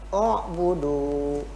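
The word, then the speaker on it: اعبدوا: Kenapa kok dibacanya menjadi dhamma? Teorinya melihat pada huruf ketiga, harokatnya itu apa? Harokat ketiganya dhammah, maka dhammahkan. Begitu.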